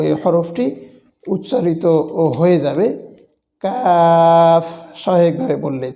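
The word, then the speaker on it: ق: কফ, এই হরফটি একটু ধাক্কা দিয়ে উচ্চারণ করা লাগে, অর্থাৎ যেটাকে তাসবিদের ভাষায় কলকলা বলে, এই হরফটিকে ধাক্কা দিয়ে উচ্চারণ করতে হয় বলতে ক কফ, জিহ্বার গোড়া তার বরাবর উপরে তালুর সঙ্গে লাগায় গিয়ে এই হরফটি উচ্চারিত হয় কফ কফ।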